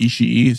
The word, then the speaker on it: Ishii: her going through the real life Yotie, she pronounced it Ishii.